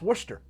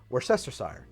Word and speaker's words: Worcestershire: so here's the thing the English will tell you oh but that's pronounced Worcester Worcester sauce or something like that and I would say that is a regional pronunciation because in American English that is pronounced Worcestershire I think it's really